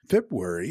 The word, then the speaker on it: February: or at least mispronounced but you're forgiven for dropping the first R this linguistic practice of dissimilation causes people to do that when two RS or L's are in close proximity to each other in a